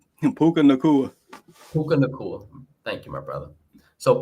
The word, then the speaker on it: Puka Nacua: I can't pronounce his name. Puka Nacua. Thank you, my brother. So Puka Nacua.